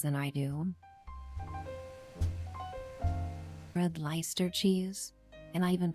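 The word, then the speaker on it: Leicester: It's pronounced Lester basically.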